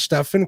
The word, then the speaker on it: Stefan: Yeah, the way he always says like how to pronounce his name is it's like 7 with a T.